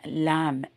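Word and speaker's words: lamb: Okay so இப்ப பாருங்க ஷீப்புக்கு சொல்லிட்டோம் இல்லைங்களா ஷீப் சமரி ஆடு லாம் பி வந்து ப்ரோனௌன்ஸ் பண்ணக்கூடாது உச்சரிக்க கூடாது எல்ஏ எம் ஓகேங்களா சமரி ஆட்டு குட்டி.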